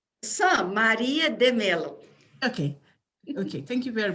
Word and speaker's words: Maria de Mello: here our next speaker maria the meleo did you pronounce that right maria de melo okay okay thank you